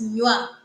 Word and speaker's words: nywa: Starting from here, this is one syllable because it is pronounced at once as nywa.